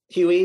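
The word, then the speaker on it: Huee: the link to the website, Hue, the app, Huey, did I say it right?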